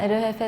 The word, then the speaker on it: EL JEFE: お店の名前はエルヘフェって読むんですけ